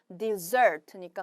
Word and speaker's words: dessert: 그럴 때는 발음이 dessert로 바뀌니까 스트레스도 뒤로 밀리니까 같이 알아놓으시면 좋겠죠. 사막은 desert, 여러분이 냠냠 먹는 디저트는 dessert니까 같이 알아놓으시고.